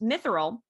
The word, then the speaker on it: mithril: The city's wealth was founded on its mines, which produced mithril, a fictional metal of great beauty and strength suitable for armor.